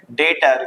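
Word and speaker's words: debtor: डेटर B silent होता है।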